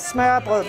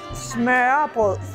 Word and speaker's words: smørrebrød: So you have never had smørrebrød before? No, I haven't. How do you say that? First, smørrebrød. Smørrebrød.